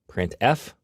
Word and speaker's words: printf: these three are the most popular they are pronounced printf putcar and puts each function is designed to